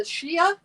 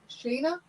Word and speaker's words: Shana: Alrighty, number 71 is a Shia. No, I'm pronouncing that wrong. It's Shana.